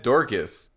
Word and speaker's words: Dorcas: It's not spelled like it sounds, but whenever they said the name, they said Dorcas.